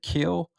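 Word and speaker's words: Kiln: his hometown is called I think they say kill but it's spelled k-i-l-n so it's like kill him kill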